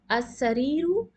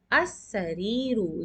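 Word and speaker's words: السَّرِيرُ: As-sariru, and now you can see we are not pronouncing the lam.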